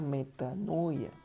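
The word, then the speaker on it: μετάνοια: arrepentimiento viene de la palabra griega que se pronuncia meta no huye y la traducción lo que significa es o lo que es verdad lo que con la connotación que tiene es que metanoia o arrepentimiento es un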